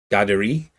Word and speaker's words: Kateri: However, my understanding is that it is a Mohawk name, or has origins in the Mohawk language, and it's pronounced Gaderi.